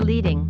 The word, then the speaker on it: leading: leading line spacing or leading which rhymes with heading is the space between